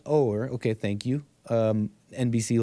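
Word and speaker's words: Oher: or he was taking it or it's pronounced over okay thank you um NBC Lady of not doing any such thing we're talking about Michael Orr who was taken in by the two weeks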